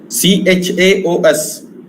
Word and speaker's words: chaos: CHAOS is not chaos, remember. This is chaos. Chaos. So this is k sound.